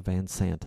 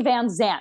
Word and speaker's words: Van Sant: Thank you for saying it correctly. Don gets it wrong all the time. What does and he I've say? Only known him for he calls me Van Zant. He puts a Z in it.